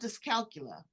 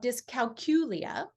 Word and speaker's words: dyscalculia: And they know how to spell it. Yeah. Tell us about dyscalculia. Yeah. So it's called dyscalculia.